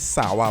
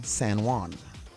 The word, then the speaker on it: San Juan: They have San Juan. We are Sawa.